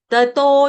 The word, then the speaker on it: ततो: उसके आगे ततो याति परांगतिम, ततो डबल तो है, इसको गलती से तत्तो नहीं पढ़ना, तत्तो नहीं है ये, क्या है ततो, सिंपल ततो याति, या दीर्घ ती ह्रस्व,